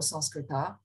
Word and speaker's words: Sanskrita: So for example, in Sanskrit, you would say Rama, Yoga, Ganesha, whereas you'd say Ram, Ganesh, Yog, and so on. And so Sanskrita would be the Sanskrit way, and Sanskrit would be basically the more modern way of pronouncing it.